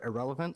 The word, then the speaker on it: Ahrelevant: no um i am irrelevant all right um the actual word irrelevant was taken and i like it so it's pronounced exactly like the word irrelevant like somebody is a nobody and yeah i'm a